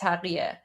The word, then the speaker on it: taqiyya: In Persian, it's pronounced taqiyya.